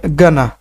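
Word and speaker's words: gonna: টু এটা হবে হচ্ছে গানা গানা গানা আমরা বলি না এটা গ না বলে গা হালকা করে গা গানা গানা গনা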